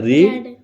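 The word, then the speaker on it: read: तो कैसे होगा, आई और पढ़ा का क्या होता है, रीड, तो रीड का सेकंड फॉर्म क्या होगा, रेड, ठीक है। तो आई रेड, ठीक है, आई रेड, ठीक है, स्पेलिंग सेम होगी, ठीक है, क्या होगा, आई रेड, ठीक है।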